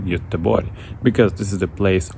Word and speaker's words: Göteborg: Now I'm joining you for this full-time analysis from another Swedish city, actually one of my favorite places, Gothenburg, or with the beautiful Swedish pronunciation Göteborg, because this is the place of my next match vlog tomorrow of IFK Göteborg.